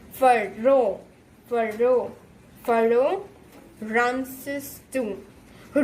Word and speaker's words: Pharaoh: This word is, how is it pronounced? Pharaoh.